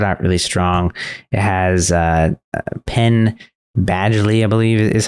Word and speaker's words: Penn Badgley: It has Penn Badgley, I believe is how you pronounce his name in it.